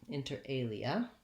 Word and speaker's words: inter alia: is um inter alia inter alia it has stress on the second word alia that's the prime stress in the phrase enter enter has first